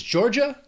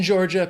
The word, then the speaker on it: Georgia: Next is Georgia, 2 syllables, stress on that first syllable, Georgia. Or again, if you're in the South, if you're in Georgia, people might say Georgia.